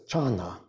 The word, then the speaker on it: Chan: It's the Japanese pronunciation of what was originally the Sanskrit word dhyana, D-H-Y-A-N-A, and which the Chinese pronounced as chana, and then shortened to chan.